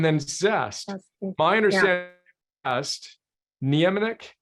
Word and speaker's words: Niemiec: My understanding zest, Niemiec, is that how you say his name? The VIA. Yeah, anemic.